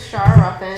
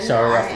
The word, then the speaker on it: Shara Ruffin: Miss, I don't want to pronounce your name wrong because I've seen somewhere else somebody pronounce it. My name is Shara Ruffin. Shara Ruffin.